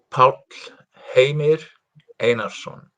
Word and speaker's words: Pall Heimir Einarsson: and uh, and complete name, how you pronounce it? Pall Heimir Einarsson.